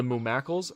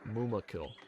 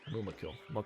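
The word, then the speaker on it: mûmakil: The mumacles. Are they mumacless? That's what I was guys. That's what I was saying. I said mum mumacle. I know how to pronounce them and how to certainly know how to spell them. Muma. Mumakill. Mumakill.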